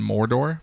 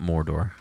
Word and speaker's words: Mordo: It's Rogoth or Baron Mordor. Baron Mordor. That's it. Yep, sorry. Mordo. Not Mordor. There's But no R on the end.